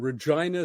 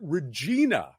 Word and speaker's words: Regina: But the American the American narrator said Regina, Saskatchewan, throughout, which is, of course, the standard pronunciation of that word is Regina. But Regina is the city, and it's wrong every single time in the audiobook.